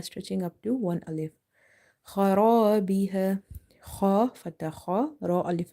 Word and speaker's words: خرابها: Kha is heavy because it's from the heavy. Ra is heavy because of having fatha on the top, and alif is madda. So we have stretched this word ra, khara biha.